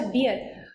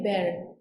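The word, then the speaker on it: bear: होती है उसकी अच्छा ये जो है ना बीई ए आर एक्चुअल में इसकी प्रोनंसिएशन होती है बेर बेर तो आपको सिर्फ आपको अच्छे से समझाने के लिए मैं इसे बियर प्रोनाउंस कर रही हूं अभी के लिए अब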